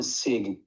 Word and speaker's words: Sig: Who do I have the pleasure of speaking It is You can call me Sig, S I G, Sig. Sig, okay. Pleasure to meet you, Sig.